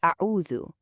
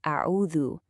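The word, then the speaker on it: أعوذ: z, so we say a'udhu. But if we apply that new rule, let the tongue come out just a bit, it becomes a'udhu with that soft th sound.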